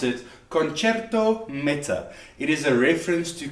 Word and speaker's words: Concerto Meta: I said Concerto Meta because I said I didn't have my fancy hat on, but apparently you pronounce it Concerto Meta.